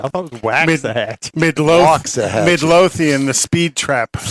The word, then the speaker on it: Waxahachie: got to trek across through things like Ennis, Waxahachie, places like that. Waxahachie? I thought it was Waxahatchie.